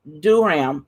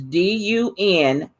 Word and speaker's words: Dunham: Did Catherine Durham, is Dunham, form a world famous dance company or writer's colony?